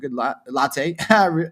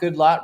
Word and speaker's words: Goodlatte: Sessions sent a letter to House Judiciary Committee Chairman Bob Goodlatte, I think that's how you pronounce it, Goodlatte, Republican from Virginia.